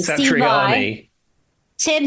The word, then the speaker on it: Satriani: guest appearances on this track, and it's Joe Santiani. I can't say his name. Steve Vai. Satriani.